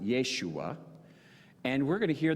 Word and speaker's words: Yeshua: in the promised land now Joshua in Hebrew we would pronounce it Yeshua and we're going to